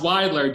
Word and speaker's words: Weidler: who mangled her name from mgm saying it's pronounced widely w-h-y blur so i actually found her original